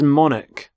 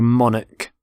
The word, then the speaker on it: monarch: the current queen so monic so the ch there makes the k sound monic the start of